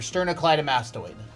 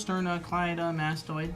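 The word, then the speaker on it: sternocleidomastoid: That's your sternoccllyam mastoid. It's a big word. 1 2 3 4 5 six syllables. Sternoclly mastoid.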